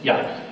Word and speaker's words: Yah: So very clearly, 68 times, the beginning of that is Yah. So there's no question that it's Yah.